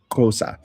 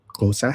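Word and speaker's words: Xhosa: Now, this is one of the lang kosa has a very hard click.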